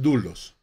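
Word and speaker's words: δοῦλος: 1 l a s se escribe 2 los se pronuncian du los que significa siervo de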